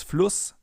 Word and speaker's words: Fluss: Because in front of a double S, the vowel is always pronounced short, as in Fluss or Kuss, for example.